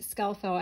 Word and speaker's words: Skelfo: And it goes, "Hi Rose, my name is PJ Skelfo, pronounced Skelfo, and I'm from Brick, New Jersey.